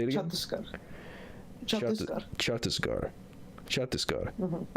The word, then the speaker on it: Chhattisgarh: Chhattisgarh. Mm-hmm. I'm not going to pronounce it well. You kind of have to get it in your throat a little bit, like. Chhattisgarh.